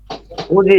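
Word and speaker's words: 굳이: রাখবেন এই দ্বিগুতের পরে দিগত প্লাস ই আসে তাহলে এই দ্বিগুতের উচ্চারণ জ হবে কি হবে জ এখন খুঁজি খুঁজি খোঁজি উচ্চারণ হবে খুঁজি গুড এই যে পড়তেছেন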